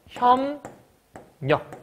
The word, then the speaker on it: 협력: 담력 이렇게 바뀐다고 이해했어 협력도 마찬가지야 협력이라는 글자도 비읍 뒤에 리을였죠 그럼 얘가 뭘로 바뀐다고요 협력이 돼요 먼저 그리고 비읍 뒤에 니은 비읍 뒤에 니은 얘잖아요 그렇죠 그럼 비율이 뭘로 바뀌어 미음으로 최종 발음은 혐 역 이렇게 바뀌게 된다는 거예요 그래서 요게 제일 많긴